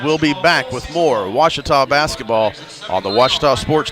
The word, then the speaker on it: Ouachita: University back in Texas everybody pronounces it Wichita but really it's Ouachita Washington how would you